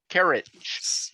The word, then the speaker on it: Carriage: Stewie 13, Stuart Carriage. Yes. How do you pronounce his last name, Kim? I've been going with Carriage. Carriage? Yeah. Okay. Yeah, it's carriage. All right.